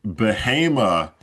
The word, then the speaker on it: Bahama: And so I started straining ironically with the Bahama B a HA MA. Everyone pronounces it Bahama.